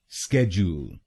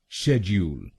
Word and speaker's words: schedule: इसमें भी आपको पहले शब्दांश पर यानी SCHED पर जोर डालना है। स्केड्यूल, स्केड्यूल। तो आप इस शब्द को ब्रिटिश इंग्लिश में शेड्यूल या अमेरिकन इंग्लिश में स्केड्यूल बोल सकते हैं।